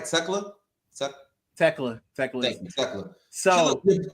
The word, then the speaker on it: Tekla: But I said it right, Tekla.